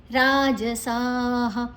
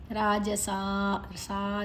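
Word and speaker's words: राजसाः: ಉ ಆಗ್ತದೆ ಯಕ್ಷರ ಕ್ಷಾಂಸಿ ರಾಜಸ ರಾಜಸ ದೀರ್ಘ ಅಕ್ಷರ ರ ದೀರ್ಘ ಅಲ್ಲಿ ಜ ಮಾತ್ರ ಹಸ್ವ ಸಾಹ ವಿಸರ್ಗದ ಉಚ್ಚಾರಣೆ ಹ ಪ್ರೇತಾನ್ ಭೂತಗಣಶಚಾನ್ಯೆ ಪ್ರಪು ಮತ್ತೆ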